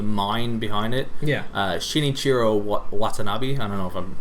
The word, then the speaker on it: Watanabe: Shinichiro Watanabe. I don't know if I'm pronouncing that quite right. Watanabe, you got pronounced right.